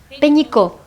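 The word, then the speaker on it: Pénicaud: ¿Y cómo es la pronunciación de tu apellido? Peñico. Peñico.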